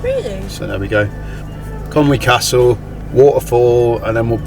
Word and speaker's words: Conwy: then head up to Conwy Castle. A lot of English people call it Conway, but I've looked on Tinterweb, and yeah, you don't pronounce it way apparently. And if you're from Wales,